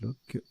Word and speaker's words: loch: Lock, ça se prononce lock.